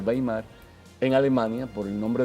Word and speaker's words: Weimar: Y hay una constitución muy importante, es la llamada Constitución de Weimar, o como se pronuncia, Weimar, en Alemania, por el nombre del lugar donde